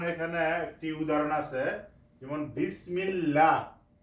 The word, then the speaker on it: বিসমিল্লাহ: একটি উদাহরণ আছে যেমন বিসমিল্লাহ এখানে লা উচ্চারণ হচ্ছে পাতলা করে কেন এই লফজালার ডাইনে কি আছে জের সেজন্য আমরা লা উচ্চারণ করেছি যেমন বিসমিল্লাহ বিসমিল্লাহির রহমানির রাহিম তাহলে